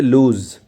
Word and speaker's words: lose: এটা অনেকে লুজ বলেন। কিন্তু এটা হলো আসলে লুজ।